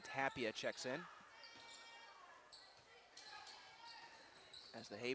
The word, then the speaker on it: Tapia: and it will put tappy in there in a hurry Tapia checks in correction on the name pronunciation Tapia checks in as the